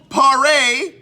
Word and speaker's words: Paré: It's Michael Paré. I know how to pronounce it because it's got an accente gue circumflex. You know, the accente.